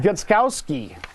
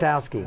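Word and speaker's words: Gostkowski: Gutskowski. Am I saying that right? Gostowski. Yeah, thank you.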